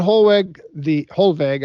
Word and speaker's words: Hollweg: In fact, they said, why do you, Bettman Hollweg, I should say, the W is pronounced like a V, the chancellor said, why are you going to go to war over a scrap of paper?